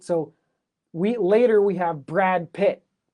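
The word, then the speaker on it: Brad Pitt: So we later we have Brad Pit. It's not the same as brat pit. So uh Brad Pit, brat pit sounds very similar, right? But the T is a little bit harder.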